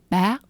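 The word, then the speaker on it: bác: So, use the word bac. Bac. It's like bac but a high rising tone.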